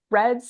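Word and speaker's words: RED-S: for sure so as we keep saying Reds Reds stands for relative energy deficiency in sport it's spelled r d-s but it's pronounced red what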